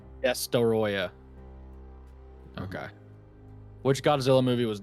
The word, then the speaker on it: Destoroyah: Hey, you gotta say it right. It's Destoroyah. Destoroyah.